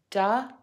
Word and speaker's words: W: The letter W is pronounced with three beats. Dʌbəyu.